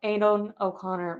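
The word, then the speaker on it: Aidan O'Connell: I wonder if Adon Adon o Conor will come Adon oconor that's how you say his name will come in for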